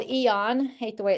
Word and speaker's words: AEON: There is a patch called Eon. Hate the way it's spelled, but it's AEON.